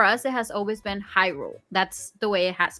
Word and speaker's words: Hyrule: the voice actors and they mention that it should be pronounced the way that you know the language sounds so unfortunately in Spanish is Ule not hyu I don't know that's